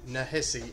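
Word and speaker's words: Nehisi: am mispronouncing that but ta then a little dash nah hissy n-e-h-i-s-i coats c-o-a-t-e-s the water dancer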